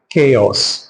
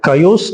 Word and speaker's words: chaos: Next word கேயாஸ். இதை கயோஸ் அப்படின்னு சொல்றது தவறான ப்ரொனன்சியேஷன். இதனுடைய சரியான ப்ரொனன்சியேஷன் கேயாஸ். கேஆஸ். கேயாஸ்.